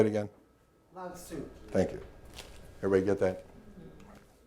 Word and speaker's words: Lao Tzu: And I don't know how to pronounce that Chinese name. Lao Tzu. Thank you. Say it again. Lao Tzu.